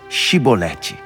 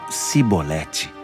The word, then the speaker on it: chibolete: não então eles pediam diga chibolete mas ele sempre falavam sibolete porque não conseguiam pronunciar corretamente então eles agarravam